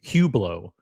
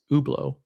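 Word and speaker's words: Hublot: Ottomar ptar p and now Roman is saying hublau when it's when even the brand itself says that's not how you pronounce it. It's pronounced ublau.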